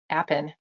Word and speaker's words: apiin: And because of that, they share a very similar volatile oil called APIIN, apin. Let's say that that's how it's spelled.